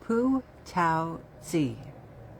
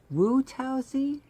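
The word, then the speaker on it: Wu Tao-tzu: Like Pu Tao Zi the famous Chinese painter. Poo said that's Woo Tausy.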